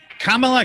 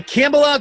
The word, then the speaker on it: Kamala: and kamala harris or if you're tucker carlson kamala kambala kumala yes fox news is going all pronunciation police well the task now though is